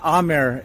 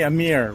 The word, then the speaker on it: Amir: So we just made his brand Bis Shanwari, So my name, Amir, is actually pronounced Amir in Pakistan. But when I moved to the US when I was young, I said my name's Amir, and people didn't have